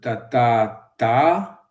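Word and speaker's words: tathatā: sont, c'est-à-dire en sanskrit, tata, si je le prononce correctement, alors que c'est plutôt tata, je crois que c'est sur la dernière syllabe qu'on insiste.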